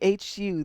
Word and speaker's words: Hu: The The Who, the Hu, the Mongolian Heavy Metal Band. Not the Who, but the Who. Well, they're the Who, but it's spelled differently. It's spelled Hu.